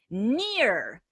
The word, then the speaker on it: near: Near. Now this one, Assad, this one doesn't rhyme. Near, care. Those are two different sounds. So near and care do not rhyme.